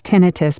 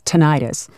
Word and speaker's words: tinnitus: My father insists it's tinnitus, but everybody else says tinnitus. I always tell my patients it's like tomato and tomato.